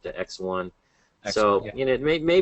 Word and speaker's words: ExOne: similar to uh X1 I guess that's how you pronounce it right it's not exone but X1 so you know may